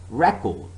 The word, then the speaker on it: record: The first syllable has higher pitch than the second in the noun record or object. So the first syllable is stressed.